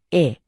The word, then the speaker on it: へ: หมาย ถึง ไป ยัง เมื่อ ใช้ เป็น คำ ช่วย บอก ทิศ ทาง จะ ออก เสียง เป็น เอะ แต่ ถ้า เป็น ส่วน หนึ่ง ของ คำ ศัพท์ จะ ออก เสียง ว่า เฮะ ตาม ปกติ เอ๊ะ มุ แสดง ความ